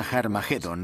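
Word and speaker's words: Harmagedón: testamento escritas en griego Armagedón tiene una aspirada al principio que significa que se pronuncia con h inal por tanto originariamente era harmagedon y podemos pasar de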